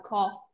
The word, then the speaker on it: cough: Viu que eu falei que tem que falar bem pronunciado, cough. E o coffee, não parece que você vai na cafeteria, você vai pedir uma tossida. Então, cuidado.